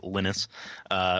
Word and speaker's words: Linus: correct yeah when when Linus lynus he pronounces it lynus when he developed it